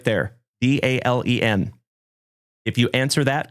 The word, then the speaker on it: Dalen: And I'll tell you, my name is spelled D A L E N. Like Dalen. Dale plus N. D A L E N.